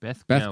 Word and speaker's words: Beth Gellert: Pronounce Beth. Hard. Fur. Gellert. Oh, gosh. Gel Haji. Beth Gel Ert. Beth Gellert.